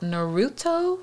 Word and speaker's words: Naruto: the show he was on the episode about naruto right that's how you pronounce it um yeah naruto boy i always